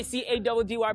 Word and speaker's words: Caddy: It's your boy C-A-D-D-Y pronounced Caddy.